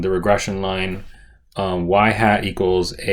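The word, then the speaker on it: ŷ: this is the equation um now this is pronounced y hat all right and and it's to be distinguished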